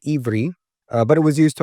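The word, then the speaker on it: עברי: In the Hebrew language, it's pronounced Ivri, but it was used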